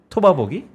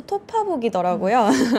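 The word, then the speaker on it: 톺아보기: 한 주 토바보기? 네. 네. 오늘 제가 그러고 나서 이제 확인을 해보니까 정확한 발음이 한 주 토파복이더라고요.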